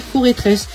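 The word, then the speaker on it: Forretress: Étourvol, Terral, Foretress. D'ailleurs, à ce qui paraît, on prononce mal le Pokémon et en fait, ce serait Foretress. Parce qu'en fait, c'est la forteresse de la forêt.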